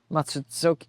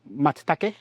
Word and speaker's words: Matsutake: Matsuzoki, how do you say that? Matsutake, pine mushroom.